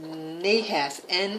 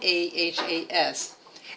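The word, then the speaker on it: נָחָשׁ: That it's pronounced Nahas, Nahas, and that word actually means snake.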